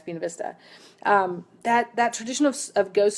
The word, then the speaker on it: Buena Vista: culture which is where Buena Vista and I do say it correctly Michelle it's not buenavista when you're in Virginia it's been Vista that that tradition of